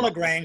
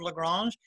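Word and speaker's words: La Grange: I'm saying it like the ZZ Top. Well, LaGrange, that's how it's pronounced in Georgia.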